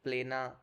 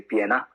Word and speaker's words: Plena: of all and yeah you pronounce it right a lot of excuse me a lot of people mispronounce it uh they usually say piano so that's it and